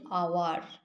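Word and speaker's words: hour: যখন দেখবে যে এইচ আছে ফার্স্ট লেটার কোনো ওয়ার্ডের, কিন্তু উচ্চারণ করতে গেলে সেই এইচটা সাইলেন্ট থাকছে, যেমন আমরা হাওয়ার বলতে পারি না, আমরা এটাকে বলি আওয়ার।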